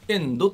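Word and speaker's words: 遠藤: そうなんです、はい、遠いという字に渡るという字を書いて、はい、遠藤と読むんですね。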